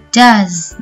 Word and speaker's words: does: kita pakai adalah Jaz Perhatikan cara bacanya di sini ada huruf s tetapi kita baca does dengan akhiran huruf z so does he work